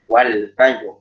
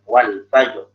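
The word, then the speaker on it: وَالْفَجْرِ: Ya, contohnya misalnya surat di ayat pertama saja Al-Fajr ya, wal fajr. Sekarang kita bacanya wal fajr, wal layalin ashr, wal syaf'i wal wat, wal laili idza yas. Padahal di situ ada ro. Ya, di situ di akhir 4 ayat itu ada ro.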